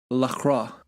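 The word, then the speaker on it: La Croix: being chased down by what I've now recently learned is pronounced Lacroix Lacroix okay that's what it is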